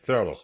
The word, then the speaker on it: Thurlow: episode we're talking to thurlo did I pronounce it right by the way thurlo am I correct fantastic who is a groundbreaker